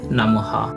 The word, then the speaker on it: নমঃ: হয় যেমন দেখুন এখানে নম নমর পর বিসর্গ রয়েছে কিন্তু এই নমটা যদি আমরা কোন একটা শব্দের শেষে থাকে তাহলে হবে নমঃ এবং এই নমটা যদি বাক্যের শেষে থাকে তাহলে তার উচ্চারণটা হবে নমোহ এরপর আছে দুঃখ এখানে